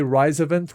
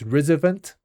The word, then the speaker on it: RISOVENT: people they I mean I always say rise event, rise. Some people pronounce it as rzvent.